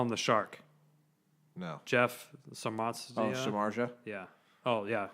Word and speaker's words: Samardzija: Jeff Samardzija. Oh, Samardzija? Yeah. Oh, yeah. Samardzija is the pronunciation it says.